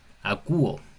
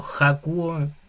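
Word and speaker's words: ἀκούω: El segundo es acúo. Si se ven, no estoy diciendo jacuo ni jago porque la coma, la respiración es una respiración suave, no es fuerte, entonces no se pronuncia.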